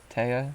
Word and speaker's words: Thea: Is that like T-E-H-A? Taya? Yes.